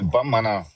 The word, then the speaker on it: Bamana: La preuve en est que les Bambara, quand on parle d'eux au Mali, les Bambara, on les appelle les Bamana. Ça, c'est la prononciation naturelle en malinké, Bamana.